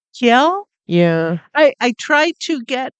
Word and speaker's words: Kjell: Yeah, I think it's probably pronounced like Kiel. Kjell?